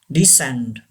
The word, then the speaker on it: descend: The fifth word, descend. Yes, descend. C is silent. Descend.